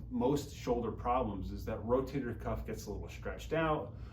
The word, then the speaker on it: rotator cuff: People mispronounce it or misunderstand it. They say rotary cup or any other sort of variation of that. But really what the rotator cuff does, it holds the